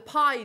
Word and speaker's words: bi: continuous and harmony the pie disc um it's yeah it can sometimes be spelled with a B but it is pronounced Pi disc looks similar um